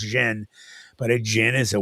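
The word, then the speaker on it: jinn: And a jin, a jin, you know, that's it's actually pronounced jen, but a jin is a well-known, you know, like ghostly uh paranormal shadow person.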